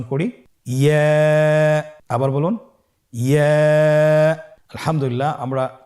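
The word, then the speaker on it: ياء: ইয়া হরফটি উচ্চারণের ক্ষেত্রে বারিক হবে এবং 1 আলিফ টেনে পড়তে হবে। ইয়া। আবার বলুন ইয়া।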